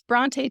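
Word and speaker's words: Brontë: O it it said in hopes that people would pronounce it correctly after he had moved to England that they wouldn't pronounce it just bront but yeah that's the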